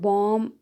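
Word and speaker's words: bomb: Tom happy silent रहेगा फिर बॉम्ब है एंड साइलेंट रहेगा क्लाइंब डेट डाउट थम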